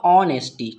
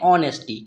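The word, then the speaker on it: honesty: इसका यहाँ पर उच्चारण होगा ऑनेस्टी, ठीक है। यहाँ पर क्या होता है, जो H होता है उसका यहाँ पर उच्चारण नहीं करते हैं, क्योंकि यहाँ पर हमें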